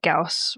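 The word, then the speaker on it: Gauss: I don't know if I'm saying it correctly, but it is G- A SS. Gaus Rifle. You are. Yeah, that's that was also in Halo, so you're saying it right.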